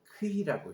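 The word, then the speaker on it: Χ: 이거를 우리 헬라에서는 크히라고 읽죠. 크히, 크시, 오메가 할 때 그때 하는 크히라는 이 단어입니다.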